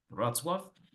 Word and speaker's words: Wrocław: Se escribe Wrocław, se pronuncia Wrocław en inglés, pero se pronuncia en polaco Wrocław.